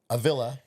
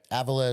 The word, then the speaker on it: Avila: name my man well it depends on where you are in the world ailla is how we say it in America okay Avilla is more Spain and Portugal